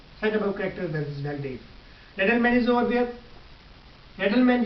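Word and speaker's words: Wildeve: वेलडीफ. आखिर में वी है लेकिन आप इसे प्रोनाउंस करेंगे एफ साउंड प्रोनाउंस करेंगे. एफ फॉर फैन. F sound produce करेंगे. वेलडीफ से वेलडीफ.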